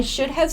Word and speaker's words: should have: for the others too when we pronounce this should have and this shouldn't have we make it very quick and very short so let's listen this should have I should have studied more sounds like